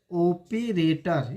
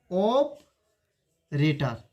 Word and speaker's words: operator: लोग पढ़ते हैं ऑपरेटर, ओपेरेटर, इसे क्या पढ़ते हैं, ओपेरेटर। लेकिन आप इसका प्रोनाउंसिएशन ऐसे कीजिएगा, ऑपरेटर, इसे ऑपरेटर पढ़ते हैं, ओपेरेटर नहीं, इसे ओपेरेटर नहीं, ऑपरेटर।